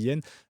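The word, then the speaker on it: Hien: sans leur défenseur yen alors comment ça se prononce c'est h I e n je pense qu'on se dit ça se dit yen euh qui sera qui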